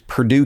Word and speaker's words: Purdue: accent so I'm like it's Purdue like the chicken not the college and they were